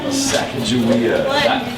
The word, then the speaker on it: Sacagawea: Sacagawea.